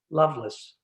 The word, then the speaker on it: Lovelace: libertine whose name is lovelace l-o-v-e-l-a-c-e which in the time would have been pronounced loveless and so this certainly